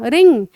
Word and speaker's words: wring: ये रिंग होती है, लेकिन ये है WRING। लेकिन इसका प्रोनाउंसिएशन कैसे इसको साउंड करोगे, इसका नाम, इसको बोलेंगे रिंग, इसको भी रिंग ही बोलेंगे।